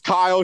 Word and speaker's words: Kiyle: Kylie, is that you? It's Kyle. She mispronounced my name, but it's cool.